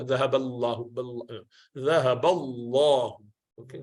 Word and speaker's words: الله: فَلَمَّا أَضَاءَتْ مَا حَوْلَهُ ذَهَبَ اللَّهُ بِنُورِهِمْ. ذهب الله بنورهم. The love of Jalala, Lam of Allah, is pronounced with full mouth.